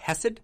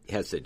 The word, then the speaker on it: Khesed: I think I'm saying it right when I say Khesed. Khesed, yeah. Khesed. I think. Again, Hebrew can be, there's kind of this guttural sound. Yeah. It's a CH at the beginning in English if you